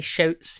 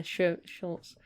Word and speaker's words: Schultz: I can't pronounce his name, it's weird. Dwight Schultz? Schultz. I was going to say Shouts. Yeah, Schultz.